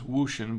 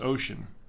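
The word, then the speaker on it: Wouxun: company called ocean it looks like it says wushin but it's it's pronounced ocean chinese this is the kgs 88g it's a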